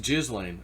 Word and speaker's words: Ghislaine: Someone's like, no, it's not Ghislaine, it's Ghislaine. It's pronounced Ghislaine.